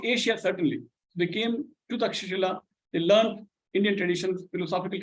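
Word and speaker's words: Taxila: South America yes which in English is spelled a spatula but it's the word is takshila which is a modern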